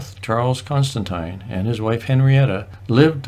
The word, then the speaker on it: Constantine: the pronunciation of the name Constantine it is pronounced Constantine not Constantine we encountered many people in the Yukon who